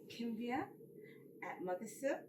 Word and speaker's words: Kimbia Mothersill: and gentlemen I have here with me today Kim via Melissa did I pronounce that properly yes you did and I've